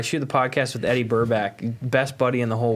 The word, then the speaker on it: Burback: Every time I go to say his name, I got to say Burbank. Burbank. So do I. It's Yeah. Burback. Burback. It's definitely like Yes. a weird name to say.